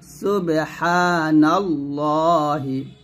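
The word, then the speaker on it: سبحان الله: পেশু একসাথে সুবহানাল্লাহি সুবহা চাপ দিবেন একটু সুবহা সুবহানাল্লাহি আবার সুবহানাল্লাহ আমমা ইশরিকু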